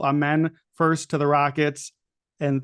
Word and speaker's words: Amen: Apparently, we're enunciating the second half of the second syllable. Amen first to the Rockets, and then Asar number 5 to Detroit.